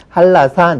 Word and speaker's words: 한라산: 우리가 한나산 그렇게 쓰죠. 그러나 발음은 발라산 그렇게 발음을 합니다. 역시 할 한해의 니은과 라의 리을이 연결되기 때문에 이것을 꺼려해요. 그래서 자연스럽게 니은을 리을로 바꾸게 됩니다. 그래서 한라산 이렇게 하는 거죠.